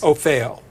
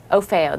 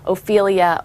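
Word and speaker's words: OFHEO: OFEO. OFEO, the Office of Federal Housing Enterprise Oversight, not Ophelia or Othello, as some lawmakers have pronounced it on the Hill.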